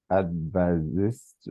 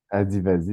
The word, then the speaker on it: Adivasi: Son sujet de thèse porte sur les droits fonciers des communautés advasistes, est-ce que je prononce Adivasi. Adivasi, Adi.